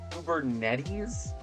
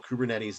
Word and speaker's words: Kubernetes: API, RESTful, Kubernetes is I think how that's pronounced now. People in the comments have told me that.